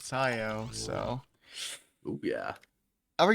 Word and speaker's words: siyo: Silo rhymes with siyo.